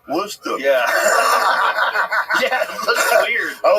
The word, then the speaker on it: Worcester: the use it for a steak sauce oh Worcester Worcester yeah yeah looks weird I was 2010 I